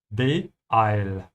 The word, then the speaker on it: beeil: And the way you pronounce it, you have to add a small hiccup between the first two letters and the rest. Beeil.